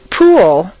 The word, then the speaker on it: pool: of this strange phenomenon pool looks like a nice one syllable word but if you say it this way at best it will sound like P and at worst it will be unintelligible to your listener for Clear comprehension you need to say three syllables po where did that W come from it's certainly not written down anywhere but it is there just as definitely as the p is there the second example is